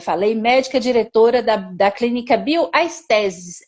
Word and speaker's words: Bioestesis: Ela é daqui de Brasília, como eu falei, médica diretora da clínica Bioestesis. É essa pronúncia mesmo.